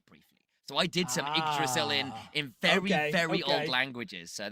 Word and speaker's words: Yggdrasil: And rightly so, we've confirmed that we're moving over to, and I can never pronounce it, Yggdrasil Path. Yggdrasil. Don't okay. Pretend it's an I.